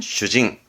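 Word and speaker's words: 主人: 예, 대표적으로 주인의 발음은 슈징.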